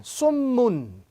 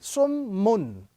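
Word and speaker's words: صُمٌّ: Sad, meme, tashdid, dhamma, sum, and meme, tanween, dhamma, mun. Summun. This is the first word. Summun.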